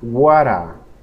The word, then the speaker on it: what a: Y observe cómo yo el sonido T lo digo como sonido R y lo pego y estas dos las pronuncio juntas y digo, what a.